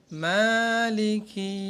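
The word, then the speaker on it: مَالِكِ: এরপর আয়াত মালিকি ইয়াউমিদ্দিন। এটার মা খাড়া জবর, এক আলিফ লম্বা করতে।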